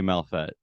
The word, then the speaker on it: Malfet: I'm like, because yeah, I hopefully I haven't been pronouncing it wrong this entire time. Like, I but I say Malfet.